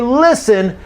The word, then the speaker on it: listen: You hear listen 10,000 times as you are learning English, right? And never ever does the speaker pronounce the T in listen.